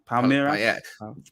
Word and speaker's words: Palmeiras: They've signed Endrick from, how do you pronounce the name? Is it Palmeiras? Palmeiras? I think it's Palmeiras.